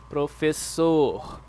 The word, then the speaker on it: professor: Yeah, we don't say professor as you guys do in English. The stressful syllable, it is like right here at the end. The letter R, remember guys, the letter R at the end of words means that it is the the most stressed syllable.